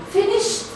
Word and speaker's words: finished: So, started, stopped, finished, t. We pronounce it t.